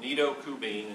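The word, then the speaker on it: Nido Qubein: never heard of before came across this quote nidokubene is the way his name is pronounced does not sound like someone's name but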